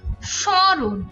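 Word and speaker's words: স্মরণ: সামান্য নাসিক্য প্রভাবিত হয় যেমন স্বরণ এখানে কিন্তু ম এর আলাদা করে উচ্চারণ হচ্ছে না যেটা দন্তস এর সাথে যুক্ত আছে কিন্তু এই স এর উচ্চারণের সাথে একটু ঝোঁক আছে বা আমরা যখন লিখি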